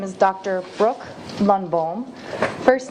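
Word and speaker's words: Lundbohm: Brooke Lunbalm. First name is spelled B R O K E.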